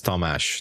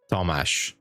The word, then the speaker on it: Tamás: My name in Hungarian is Tamás. That's how I pronunciate it, like Tamás.